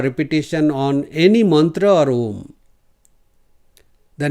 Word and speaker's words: Om: So, they are saying not to pronounce Om like Om, but to pronounce it like Om. So, M will be long, O will be short.